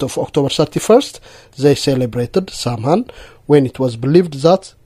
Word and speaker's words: Samhain: back to the ancient Celtic festival of Samhain pronounced the Samhain.